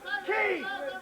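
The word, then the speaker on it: Keen: How do you pronounce my name? Sir, Mr. Quaid, sir! No, Key!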